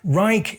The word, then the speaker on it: Reich: And uh yes, Reich is an acceptable pronunciation in English. If I was speaking German, I would of course refer to the Ditus Reich.